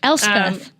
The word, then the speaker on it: Elspeth: It's pronounced Elspeth. It's Elspeth. Really hard. Elspeth.